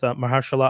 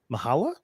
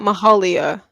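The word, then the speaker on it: Myha'la: a apostrophe L A Mahala I imagine is how it pronounce that m y m y h a apostrophe l a hero not Mahalia no because there's no I yeah no m y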